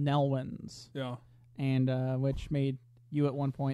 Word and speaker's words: Nelwyns: Yeah, it sounded like the first time it was mentioned, it sounded like Melvins, which is a very strange name for a race. Yeah. But Nelwyns is virtually Melvins pronounced differently, so we'll stick with Nelwyns.